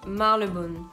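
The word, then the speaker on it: Marylebone: lettre qui va disparaître ça se dit marc le bol voilà donc en fait on n'y pas du tout le y voilà ça pourquoi je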